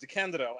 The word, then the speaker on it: DeCandido: before we start, I have to say that my last name is pronounced DeCandido, actually, not DeCandido, but that's DeCandido.